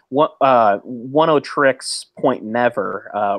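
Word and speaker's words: Oneohtrix Point Never: when you say 70s, as far as the soundtrack, I mean, One O Tricks Point Never. I just looked it up. It's One O Tricks. That's how you pronounce it.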